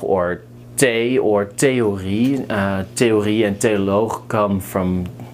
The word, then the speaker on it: theorie: So just pronounce it as a T.